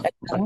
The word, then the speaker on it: Chacao: pronunciation? Yeah. Chacao.